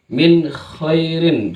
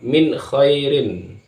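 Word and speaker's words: مِنْ خَيْرٍ: adalah izhar jelas minirin jangan minirin salah itu atau minirin salah maka yang benar adalahirinir jangan lama jangan sering terjadi lagi di masyarakat terkadang membacanya minirin minirin minirin minirin itu salah yang benar adalah Min Kirin Min Kirin pokoknya ada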